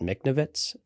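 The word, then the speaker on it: Michnovetz: that ended up writing this episode so Matt miknovitz that's how you pronounce it which is fine but it was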